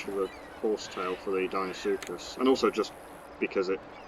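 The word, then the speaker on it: Deinosuchus: It's going to be male, and it's pronounced Dinosuchus.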